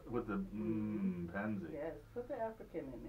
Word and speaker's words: M'Penzi: Yeah, it's a Swahili word.